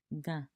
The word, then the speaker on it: Gã: Ga is pronounced like ga. Low tone. However, it's nasal. This completely changes the meaning of the word.